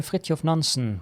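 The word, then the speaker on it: Fridtjof Nansen: nanson was last seen yes I am Norwegian if you didn't know and yes that's how you pronounce it in Norwegian so the place where frit of nansen was last seen just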